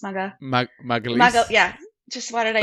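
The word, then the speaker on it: Gabriel Magalhães: I always say his last name wrong. Maga Harris? Magalhaes.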